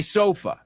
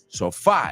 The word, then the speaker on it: sofa: So I don't just want you to say, well, I love my sofa. Right? Que no se pronuncia sofá. In English, it's sofa.